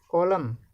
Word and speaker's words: column: Column, N is silent.